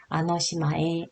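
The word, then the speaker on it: あの島へ: 아니에요 하시는 분들은 이렇게 여기 조사로 쓰일 때는 해라고 지 않고요 그것은 에라고 읽어 주시면 돼요 그래서 아노시마에 발음해 주시면 됩니다 아또 아타니 스베 와스레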